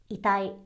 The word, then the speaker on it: 遺体: So, 遺体 means dead body or corpse, and be sure to pronounce it very flat because if you accidentally emphasize the 体 in 遺体, it means it hurts. So, yeah, 遺体を隠さないと. 遺体.